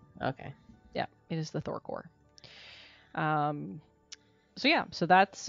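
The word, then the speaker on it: Thor Corps: Thor Corp right the the p is silent so it's Thor oh really but it's about with a p yes okay yeah it is the Thor core um so yeah so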